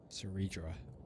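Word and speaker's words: Cerydra: Ceridra, that's how you pronounce it.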